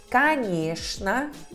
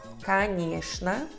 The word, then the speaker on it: конечно: Nas palavras como конечно, конечно, aqui dá pra ver, né? A O e O são reduzidos até A, porque a sílaba tônica é nhé. E tchn, aqui essa exceção, se lê como shn.